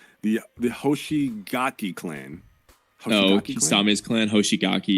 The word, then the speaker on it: Hoshigaki: And for my number 6, I think I'm going to go with I'm going to try to pronounce this right. The Hoshigaki clan.